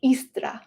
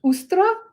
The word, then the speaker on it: Eostre: And it was in honor of this divine feminine deity known as Eostre. Eostre. Now, Eostre, sometimes pronounced Ustra or Ostara.